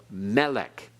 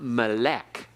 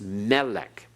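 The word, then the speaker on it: מֶלֶךְ: a millel pronunciation so Melech everyone melik it's not Malek it's Melech okay Accent on the first syllable that's milele and one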